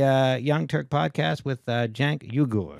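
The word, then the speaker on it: Cenk Uygur: you say biggest online news in the world Jen yuger Jen yuger yep well podcast in the large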